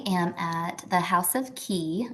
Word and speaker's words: Ki: I am at the House of Key. It's just House of Key LLC, and Key is spelled Ki.